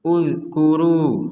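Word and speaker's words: اذْكُرُوا: Kalau kita baca dari kata ini maka di sini huruf hamzahnya tidak ada harokat, kita membacanya dhammah. Uzkuru. Nah, ada pertanyaan, ini kenapa dibaca dhammah?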